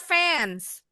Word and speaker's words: fence: Bacanya fans. Oh benar, Bu. Halo. Ini ya. Bismillah. Tadi apa sih, Miss? Teras. Teras itu porch. Kalau ini apa? Pagar. Pagar tadi f fence. Bunyi c-nya seperti s.